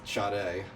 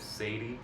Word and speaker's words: Sade: still looks amazing, is Sade. Who the fuck? Oh, I've been reading it as Sadie.